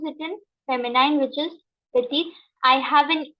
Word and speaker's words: petit: Okay, so when we have a consonant here, we never pronounce that consonant. We always pronounce the last word of last, vowel or word of Okay, so shah, petit, raison, and tabak.